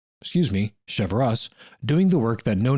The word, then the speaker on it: Cheverus: chopping he went out and found a father chevroo excuse me cheverus doing the work that no neighbor would volunteer